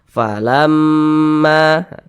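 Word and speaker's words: فلما: Falamma, ma dipanjangkan 2 harakat. Mad tabi'i itu panjangnya 2 harakat.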